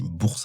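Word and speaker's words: Bursa: Mais normalement, on dit bourse.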